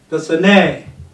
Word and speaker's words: personnel: Magazine, magazine, enrollee, personnel. Don't forget you are personal, but this was personnel.